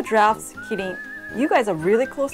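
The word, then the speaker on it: キリン: Kitting.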